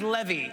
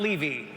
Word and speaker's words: Levy: But if it goes well tonight, my name is pronounced Levy, not Levy.